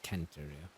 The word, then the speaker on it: Centurio: I have to remember the pronunciation in Latin is actually not center, it's Centurio.